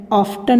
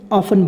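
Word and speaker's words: often: ऑफन मतलब होता है अक्सर, यहाँ पे टी साइलेंट कर देते हैं, ऑफ्टन नहीं बोलेंगे, ऑफन बोलेंगे।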